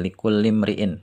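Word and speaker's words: لِكُلِّ امْرِئٍ: untuk kulli setiap imriin orang bacanya liulimriin karena di situ imriin ya itu Hamzah wasal namanya dia dibaca kalau di awal kalimat tapi kalau di tengah-tengah kalimat ya di sini dia enggak dibaca Jadi likulimriin bukan likulli imriin tapi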